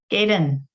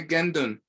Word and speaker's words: Gendon: Try to pronounce this. Gaydon. Gaydon. You got the idea right. Say Gendon. Gendon. Gendon. Yes, Gendon. Oscar, what does Gendon literally mean?